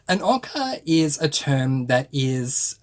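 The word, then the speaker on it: ocker: He uses a term that is pronounced in Australia as ochre, or maybe if you're in America, you might pronounce it ochre.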